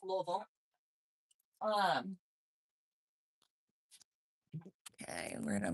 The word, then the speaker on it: Louisville: I will say it that way for everybody. Most people don't understand it when I say it like I'm from there. It's Louisville.